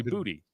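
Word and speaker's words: Boutte: Like everyone said his name wrong for like 2 years, and then someone finally asked him and was like, "Hey, it's actually Booty."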